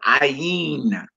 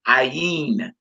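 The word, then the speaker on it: עין: We pronounce this ayin, ayin, which is the Hebrew word.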